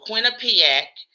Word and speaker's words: Quinnipiac: It's the Quinnipiac and the Gallup.